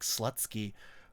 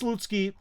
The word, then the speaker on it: Slutsky: It's spelled like Slutsky, but it's Slutsky, and his Telegram channel is actually fairly successful.